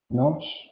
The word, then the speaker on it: GNOSS: en principio identifique y nos proponga. Entonces, uno es Syndes, el otro es NOS, se escribe GNOSS.